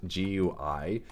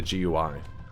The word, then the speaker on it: GUI: what it means uh would be more likely to pronounce it gui because it's an acronym and it is correct